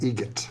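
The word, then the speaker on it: Eget: It's a joke, an Adam Egret joke. How do you say the name? Adam Egret. Egret. Spelt differently. Like the bird. That's Egret.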